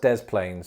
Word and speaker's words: Des Plaines: in the illinois city of the plains it's pronounced des plaines so that it wouldn't that wouldn't work also des plaines doesn't have a dedicated airport so you'd have